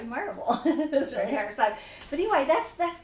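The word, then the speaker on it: Maryville: her to Pro to pronounce marville because if she says Marvel I know she's really a Tennessean but if she says Mary de that's that's so that would be my test is is it really you Dolly s s how do you pronounce m a r y v i l l e and she'll say marble so but anyway that's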